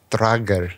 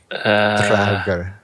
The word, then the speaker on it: Draugr: Draugr. Sort of rolled the Draugr. tongue a little bit, huh? Is that how we do it, Luma? Roll the tongue? Draugr.